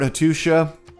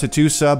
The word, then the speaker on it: Hattusa: Alright, let's go convert Hattusha. Which I still think should be pronounced Hattusa, but okay.